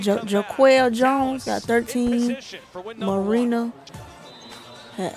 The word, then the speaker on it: Jonquel: He's pronounced Jaquel Jones got 13.